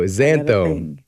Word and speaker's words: xanthones: One of these important compounds here is something called xanthones. Xanthones, spelled with an X.